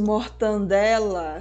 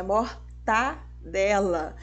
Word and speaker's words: mortadela: E o famoso mortandela, nossa, não pode, é mortadela.